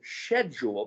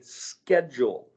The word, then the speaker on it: schedule: the word schedule or the british say schedule because it's spelled with an sh the americans say schedule as if it's s c h s schedule well people say things